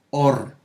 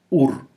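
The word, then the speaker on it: אור: Ahora, esa palabra que se escribe igual, pero ahora la leo claramente porque veo la luz del Mashiach y la leo como Or, no como Ur, porque salimos de Ur a la luz verdadera, quien es Yahshua HaMashiach.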